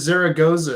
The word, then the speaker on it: Zaragoza: here I hate when it happened I I pronounced your last name is Zaragoza is that correct that's perfect thank you all